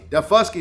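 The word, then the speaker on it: Daufuskie: called da fusky island the fusky is how you say that heavy d so we're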